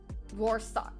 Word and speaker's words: Rorschach: And to continue this positive trend, we are going to do the Rorschach. I never know how to pronounce this.